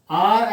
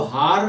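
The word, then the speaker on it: hour: एन आर, दोस्तों आर एच ओ यू आर को हार या होवर नहीं पढ़ते, ये आर या आर्स करके पढ़ते हैं। तो इसको प्रोनाउंस करते हैं आर, मतलब आर।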